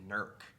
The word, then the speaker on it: Newark: like newark new jersey they pronounce it nerk it's not nerd dude it's newark he wants to live